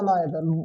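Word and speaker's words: neither: पहले को हम कहते हैं ईच, दूसरा हमारे पास है ईदर या आइदर, दोनों पढ़ सकते हैं। तीसरा हमारे पास है नीदर या नाइदर। Both pronunciations are correct, आप इनमें से कोई सा प्रोनाउंसिएशन पढ़ सकते हैं।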